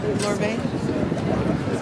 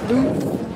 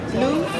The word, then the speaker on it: Louvre: So I'm saying it wrong. Lorbe? Louvre? Yeah. Louvre? Yeah, the Louvre.